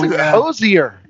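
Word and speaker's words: Hozier: That's Hosier. Is how I would pronounce that one.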